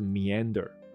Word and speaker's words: meander: 它的发音是 meander，那它的中文就是这